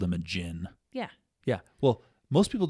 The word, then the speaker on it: djinn: Okay, a djinn. Yeah. The D is silent.